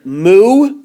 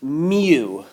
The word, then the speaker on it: mu: you can pronounce mean you can pronounce the Greek letter mu like a cow but I've heard it more pronounced m you like my you okay